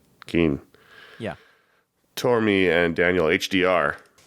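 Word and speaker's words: Cian: I want to say it's Caian. A lot of times in Irish, that's a hard C. Right, so that's what I thought. Keen.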